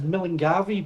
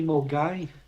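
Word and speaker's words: Milngavie: A lot of people read that as Milanavi, but it's actually Mai. That's how you pronounce it.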